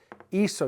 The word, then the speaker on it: hizo: Hizo, you got to change that C to a Z to get away from the hard C sound that would be if you followed with an O. We don't want it to be eco, it's hizo. That's why we go from C to Z.